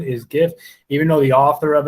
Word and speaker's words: GIF: can't do jeff it's it's the chronic correct pronunciation is gif even though the author of it said it's jif but i think that's grammatically your pronunciation is